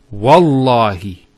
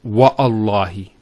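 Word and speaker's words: والله: it, and we say, Wallahi. This waw here is actually known as waw al-qasm, the waw of swearing an oath. So when we put this waw, it's Wallahi, not Wa'allahi.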